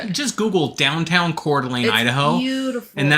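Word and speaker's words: Coeur d'Alene: So if you're ever if you haven't been to Cordelane, Idaho, you should. Just Google downtown Cordelane, Idaho.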